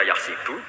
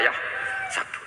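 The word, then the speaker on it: يَحْسَبُ: Karena dalam qiraat sab'a ada yang baca yahsibu, qiraat kita baca yahsabu. Tapi guru-guru kita kalau ngajar fikih itu bacanya yahsibu. Tapi kalau baca Quran yahsab. Ya kan Quran kita kan ayah sabu Allah yaqdiru alaihi ahad, bukan dibaca ayah sibu.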